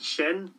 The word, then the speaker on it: sin: Today, I think I'm going to look at how to say this and that in Irish, which those words in Irish are shaw, meaning this, and shin, meaning that. So, let's have a few examples here, and they'll be up here on the screen for you.